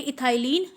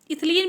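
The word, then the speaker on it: ethylene: और यहाँ पर आपका जो मेजर हाइड्रोकार्बन्स होंगे इस सीरीज़ में वो होंगे इथाइलिन एंड प्रोपाइलिन। इथिलीन भी आप इसको कहते हैं, प्रोपिलीन भी कहते हैं, बट मैं इसको इथाइलिन ही बोलती हूँ, प्रोपाइलिन ही बोलती हूँ।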